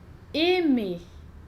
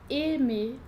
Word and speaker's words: aimer: Quando a gente tem a junção A-I, a gente não vai pronunciar AI. A mais I faz som de E ou E, mais abertinho. E, dependendo da palavra.